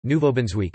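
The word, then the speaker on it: Nouveau-Brunswick: new brunswick french nouveau brunswick canadian french pronunciation nouveau benz week listen is one of four Atlantic provinces on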